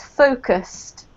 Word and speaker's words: focused: This one is focused. Focused. Good. So this has got 2 distinct syllables, the same as this word here, pages.